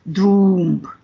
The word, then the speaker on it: Trump: states and germany friendship in the palatina dialect trump is pronounced as droomp so it was not